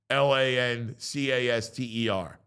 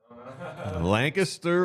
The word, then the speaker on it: Lancaster: s t e r how do you pronounce it Lancaster or Lancaster lter thank you Joey Lancaster the chat is on my side though one person no one Lancaster says L Lanter yes yes land cancer where's that